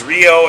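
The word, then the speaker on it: Rhio: Anyway, this young lady right here is known as Rio, and with the spelling, there's going to be some confusion, let's be clear, but it's spelled R-H-I-O.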